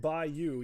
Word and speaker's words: bayou: Arkanu says, also you're pronouncing Bayou correctly. Okay, it's pronounced like Bayou.